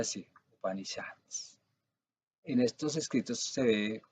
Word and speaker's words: Upanishads: En Upanishads, se pronuncia así, Upanishads.